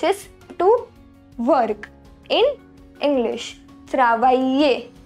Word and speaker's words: travailler: Travailler. Here double L is pronounced as ye. Travailler.